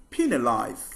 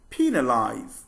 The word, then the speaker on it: penalize: going to look at some commonly mispronounced words with the longer e sound the sound e is